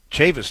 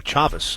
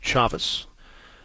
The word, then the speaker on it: Chavis: innings and it'll bring chavis to the plate uh chavez i should say michael chavis c-h-a v-i-s pronounced chavez he was hit by